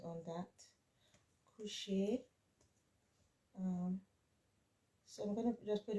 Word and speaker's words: couche: when you're conjugating, I want to focus on pronunciations. So just remember, laver. This is lave because there's no accent on that. Coucher.